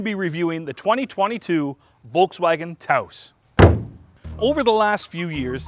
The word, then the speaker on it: Taos: It's pronounced Taos, like chaos. No, it's pronounced Taos, like house.